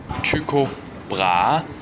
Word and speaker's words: Tycho Brahe: said, and this is how it should be pronounced. Tycho Brahe.